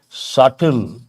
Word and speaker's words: subtle: that I'll write here subtle the letter B is silent how do you pronounce